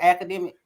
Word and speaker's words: Akademiks: for saying that DJ I said it right academic yeah they went on the he went on